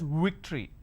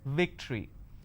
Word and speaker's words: victory: they pronounce this as victory now remember what I said if you have the letter V you need to bite your lower lip it's victory and if it's W